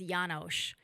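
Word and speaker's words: János: part of his bio his hungarian name is yanosh that's how it's pronounced i would know that because i'm hungarian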